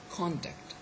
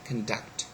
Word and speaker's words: conduct: As a noun, we say conduct, and as a verb we say conduct. So it is the second syllable which is stressed.